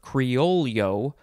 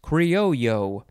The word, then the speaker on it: criollo: o l l o so that's why you can say it either creole yo that's more american way to say it i think or you can say it cryo which is the more